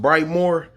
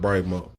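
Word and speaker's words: Brightmoor: get it this neighborhood is bright mode it's pronounced bright more but the people call it bright mode that street is called finkel aka 401 aka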